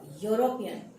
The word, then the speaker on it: European: But when we pronounce the word, it is always ya, European.